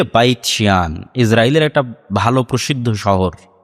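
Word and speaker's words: בית שאן: ইসরাইলের সীমানার মধ্যে পড়ে হিব্রু এবং আরবি উচ্চারণের পার্থক্যের কারণে তারা উচ্চারণ করে বাইতশিয়ান যেটা আরবিতে এসেছে বাইসান সেটাই হিব্রুতে বাইতশিয়ান ইসরাইলের একটা ভালো প্রসিদ্ধ শহর।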